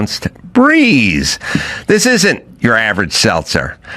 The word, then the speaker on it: Brez: a hangover meet breeze spelled b r e pronounced ounced breeze.